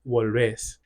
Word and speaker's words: volvés: Relatedly, for verbs that have a vowel changing stem, you'll notice that they don't have that vowel change because the stress no longer falls on that syllable. So instead of puedes, you have podés. Instead of tienes, you have tenés. Instead of vuelves, you have volvés.